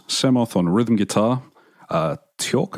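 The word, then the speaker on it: Tchort: on rhythm guitar uh torque i think it is pronounced t-c-h-o-r-t short on bass guitar and faust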